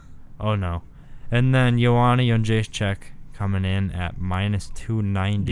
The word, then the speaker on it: Jędrzejczyk: And the last fight I want to cover on this card is Joanna Jędrzejczyk Joanna Jędrzejczyk. versus Tisha I'll Torres. say it. I don't know where the yun comes from. Joanna Jędrzejczyk.